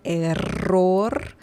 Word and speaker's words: error: You need to roll your R real good. Error. Your double R right here.